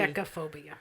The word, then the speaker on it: Triskaidekaphobia: Triskaidekaphobia. Is that right? Did I say it right? There's no... There's no second T. Triskaidekaphobia. Triskaidekaphobia.